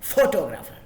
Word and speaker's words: photographer: So photographer and photography, not photography, not photographer. It is photographer, photography, photography.